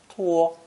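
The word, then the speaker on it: 拖: The snake phonetic with a hand radical on the left is pronounced tuo and means to drag along or to procrastinate.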